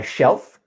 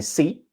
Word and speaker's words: see: Second example was the word see. As in I see, you were saying she. She. Oh, see, see. See.